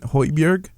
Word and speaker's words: Højbjerg: Højbjerg. Did I pronounce that name right? Yeah. Højbjerg.